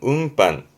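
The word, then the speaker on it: 運搬: 발음은 운반. 아시죠? 은 때문에 바뀝니다. 운반.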